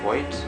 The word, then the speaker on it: Voigt: Gas is also known as Wolfgang Voigt, or Vogt, I believe it would be pronounced in German.